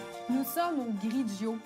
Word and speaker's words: Grigio: nous sommes une grille diot qui se prononce comme finaux griggio c'est un restaurant italien